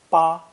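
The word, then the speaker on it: 八: fourth tone for example the syllable spoken with a high flat tone ba means the number eight ba pronounced with a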